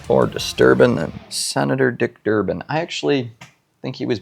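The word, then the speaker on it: Durbin: It's more disturbing than Senator Dick Durban. I actually think he was before my time. I don't really remember, but his name rhymes with disturbing. though. Sorry, Senator Durban.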